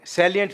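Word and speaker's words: salient: खास बात क्या है बच्चा कहां जाता है वह इसको साइलेंट समझ लेता इस आइलैंड वीरवार को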